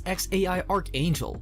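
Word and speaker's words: X Æ A-Xii: a boy they named this name which she pronounced as xai archangel or x for short she had to learn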